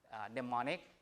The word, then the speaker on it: mnemonic: So I come up with my own mnemonic. You know the word mnemonic? Mnemonic. So M is silent mnemonic, meaning things that help you memorize.